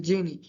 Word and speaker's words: Jini: Genie Technology, pronounced Genie, is a network architecture